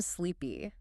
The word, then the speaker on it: sleepy: It has a long E sound in the middle and another long E sound at the end. You actually have to stretch your mouth into a slight smile to make that sound.